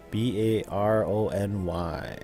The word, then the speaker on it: Barony: B-A-R-O-N-Y. Barony. That's how I pronounce it.